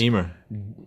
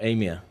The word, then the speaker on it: Emma: And Emma, is it Emma? Yeah. Not Amia. Not Amy or whatever you're saying. That's what she says. Eh, does she she's saying it wrong? She's wrong. Emma. No, no, maybe it is. Yeah, it is. No, it is Emma.